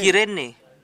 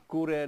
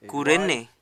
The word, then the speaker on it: Cyrene: In called Kurene. Kita juga dapat menyebutnya dengan nama Kurene. Silent Y, Diucapkan spells in U. Y, but it pronounces U.